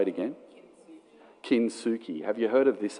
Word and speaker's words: Kintsugi: Can someone tell me how to pronounce that? Can you say it again? Kintsugi.